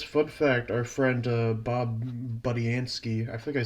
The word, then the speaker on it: Budiansky: Actually, I guess fun fact: our friend Bob Budiansky. I think I said, I don't know if I pronounced his name wrong last time.